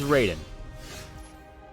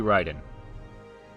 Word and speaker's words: Raiden: is it he's he's raiden and it should be ryden am i wrong it's that name is definitely pronounced ryden i can't remember if